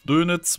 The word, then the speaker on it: Dönitz: Dönitz wird es ausgesprochen.